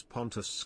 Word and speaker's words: Pontus: Every time you say Punters it sounds like you are saying my name since it is Pontus.